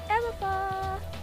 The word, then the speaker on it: Eméfa: Yes, like I said, I'm here with a beautiful young lady, and her name is Eméfa, with an accent on the second E.